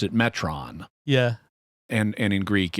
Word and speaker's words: Metron: printing everyone pronounces it metron even though the metrons pronounce it metron yeah and and in greek it it would be pronounced metron because that's an omicron not an omega right um the word